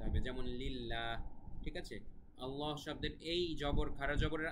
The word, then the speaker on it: আল্লাহ: হলেও আল্লাহ শব্দটা কিন্তু আল্লাহ এভাবে উচ্চারণ করা যাবে না পড়তে হবে আল্লাহ ঠিক আছে আল্লাহ লামটা একটু মোটা করে পড়তে হবে তবে বিশেষভাবে খেয়াল রাখবেন